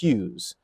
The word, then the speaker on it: Hughes: And even if you're on the bench, a huge experience for a guy like Luke Hughes, who, by the way, it rhymes with like Jacques Hughes.